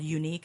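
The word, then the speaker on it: Younique: Facebook there's a there's a cosmetic brand called unique it's spelled y o u n i quu e and she is a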